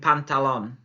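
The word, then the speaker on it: pantalón: you're absolutely right of course it's skirt wouldn't pantalon une pantalon une pantalon oui bien trousers you'll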